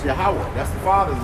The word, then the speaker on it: Yahweh: Definitely didn't know how to pronounce it. That's right. It's Yahweh.